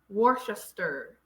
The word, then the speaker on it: Worcester: Cester is pronounced stir. Leicester, Worcester, Gloucester.